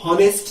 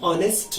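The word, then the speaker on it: honest: एच शब्द ह के लिए आता है, पर यहां इसका प्रोनाउंसिएशन हॉनेस्ट नहीं होता, यहां हम एन ऑनेस्ट मैन ऐसा करते हैं। मैंने H stands for of sound, तो यहां पर साउंड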